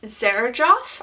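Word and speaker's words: Xerjoff: is from the brand Serge off I think is how it's pronounced it's about XC rj o FF it's very well known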